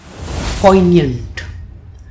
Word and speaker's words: poignant: in the comment below poignant let's begin with the pronunciation of this word it has two syllables Po and yant and the stress falls on the first syllable in the second syllable